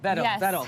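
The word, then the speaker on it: Wedel: Vedel. See, the W is there, and I didn't go Vedel.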